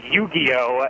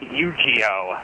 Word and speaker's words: Yu-Gi-Oh: It's pronounced Yu-Gi-Oh, not Yu-Gi-Oh.